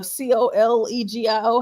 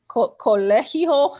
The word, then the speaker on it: colegio: The COLEGIO.